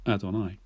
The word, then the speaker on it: Adonai: And it's from this word that we get the made-up word Jehovah. But it's actually not meant to be pronounced like that. It's meant to be pronounced like this, Adonai.